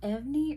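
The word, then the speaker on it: EVNNE: Okay, and then we have Evney or Even. People have pronounced it differently. I heard the official name is called Even, but it's spelt like Evney. I don't know, but I've been calling it Even.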